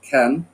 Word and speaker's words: can: আসলে ক্যানের উচ্চারণ কিন্তু ক্যান না, ক্যানের উচ্চারণ হয় হচ্ছে আপনার খ্যান।